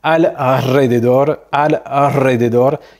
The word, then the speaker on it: alrededor: un peu de difficulté, mais après les consonnes N, L-Y-S, eh bien, tu vas avoir un R roulé, comme par exemple alrededor, qui lui veut dire autour, mais tu vois bien que le R, il est pas au début, il est un peu au milieu, et donc c'est pas un R simple.